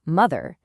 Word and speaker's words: mother: And what about another one like mother? The O sounds like a U.